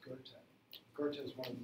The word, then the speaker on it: Goethe: Looks like Goethe, it's pronounced Goethe.